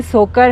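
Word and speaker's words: Tsokar: सोकर की स्पेलिंग है टी एस ओ के ए आर लेकिन टी साइलेंट होता है। सोकर पढ़ते हैं उसको।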